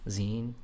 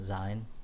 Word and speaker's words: zine: But like, I was part of that zine scene in the 90s, pronounced zine, not zine.